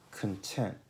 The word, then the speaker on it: content: Ad esempio, content. La T di tent, tent, sillaba accentata, si pronuncia come la T di Ted. Content. Content.